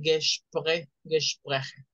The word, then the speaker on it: Gespräche: De paso les digo que la A con diéresis se pronuncia como una E, por eso se dice Gespräche.